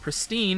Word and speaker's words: pristine: from 1928 in it it informs announcers that pristine rhymes with wine PR pristine respite is